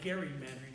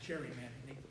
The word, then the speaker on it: gerrymandering: Gary, it should actually be called gerrymandering, not gerrymandering. They messed up the pronunciation somewhere along the line.